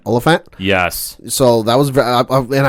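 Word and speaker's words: Olyphant: and only Timothy how do you say this olant olant yes so that was and I didn't remember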